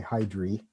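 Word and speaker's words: Hydrae: in is called hydra but the genitive form of the of the constellation is hydra it's spelled a e at the end and the proper way to designate the star would be h s hydri if you spell it out so the constellation is hydra h h-y-d-r-a but if you write out the full name when you use the hs you should say hydry h-y-d-r-a-e to get it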